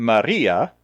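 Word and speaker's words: María: Well, the ia in Maria, with the accent on the I, like her name ought to be spelled, tells us the ER and IR endings.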